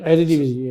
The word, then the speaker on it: Eredivisie: There's also people saying Spanish managers fits the EPL better compared to Eredivisie managers. Eredivisie, Right? Is it? Did I pronounce it correctly? Eredivisie, yeah.